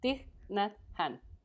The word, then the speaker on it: Thich Nhat Hanh: I cannot pronounce his name. Tich Khan? Yes. Yeah. She had Thich used Nhat that. Hanh. Thich Nhat Hanh.